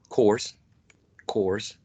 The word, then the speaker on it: course: It's a long O, course.